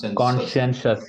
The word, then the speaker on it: conscientious: kind of person is conscientious yeah conscientious Society just keep in mind that s right that c i makes the sh sound same goes for that t i o so that also makes a sure sound so